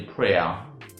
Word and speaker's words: prayer: People say prayer. I'm saying a prayer, or I'm going for a prayer. Well, that is not the right pronunciation for that word in BBC English and even in American or GA pronunciation. Okay, now that word is pronounced prayer.